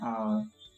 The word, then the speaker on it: hour: An honest man, an honorable leader, an hour. So here H is silent and O, this sound is being pronounced.